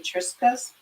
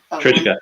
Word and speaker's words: Triska: I'm gonna pronounce this wrong, so it'll correct me. Tony Triskas. Trishka, yep. Okay, did I say that right? Yeah, Trishka, yep.